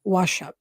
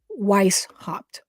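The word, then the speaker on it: Weishaupt: of 1776 by Adam wasup I always say his name wrong Weiss hopped he was a professor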